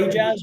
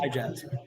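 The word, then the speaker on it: Ayejazz: When I asked her how to pronounce it, she just broke the two words apart and put A-Y-E and jazz. So Keena said hey, as it's probably pronounced A as in hey, so A-Jazz.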